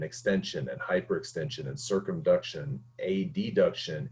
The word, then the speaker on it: adduction: and hyperextension and circumduction a deduction a b duction notice i said a d and a b adduction is how it's actually pronounced and abduction is how that's